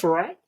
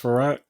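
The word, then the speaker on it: Frerotte: Gus Farrat? Thank you. Gus Farrat? Yeah, you guys are correct. It is Gus Farrat.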